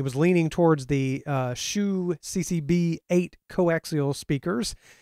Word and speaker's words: Hsu: leaning towards the uh shoe CCB eight coaxial speakers that is pronounced shoe right yeah it is yeah